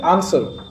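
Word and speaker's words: answer: give him satisfactory আসার এটার উচ্চারণ সসার নয় এটার উচ্চারণ কি আসার তাহলে বাট নোওয়ান কিন্তু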